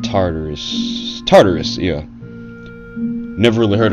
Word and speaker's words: Tartarus: whenever cerberus broke out i think they said to taurus and that was wrong from what i was told i never even heard of tatars but it's called tartarus tartarus yeah never really heard of that but